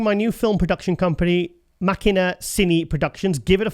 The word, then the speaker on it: Machina: Oh, sorry, Machina. Like Deus Ex Machina. Oh, like the film Ex Machina. Yeah. Is that how you say it? That's how you say Not Ex Machina.